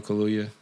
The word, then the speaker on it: Kaluuya: Daniel Kaluuya.